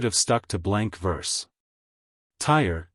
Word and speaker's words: Tyre: Tyre, you notice, 2 syllables to rhyme with deny her in line 3.